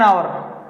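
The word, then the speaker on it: hour: H silent letter होता है इसमें।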